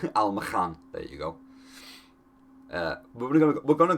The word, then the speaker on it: Almakhan: Almakhan? Probably pronounced that K a little more harshly, but my accent won't allow it. Almakhan, there you go.